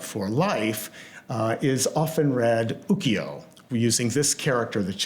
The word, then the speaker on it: ukiyo: a book called the Ukiyo-e Tales of the Floating World. And instead of writing it that way, he wrote it this way. It's pronounced the same way, ukiyo, but in this case it means floating.